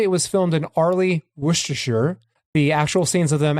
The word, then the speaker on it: Worcestershire: Some of us are from there, and it's Worcester and Worcestershire, respectively, for the pronunciation.